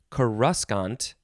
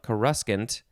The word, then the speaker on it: coruscant: it is spelled exactly the same this is pronounced coruscant something like coruscant and uh but wait it gets better this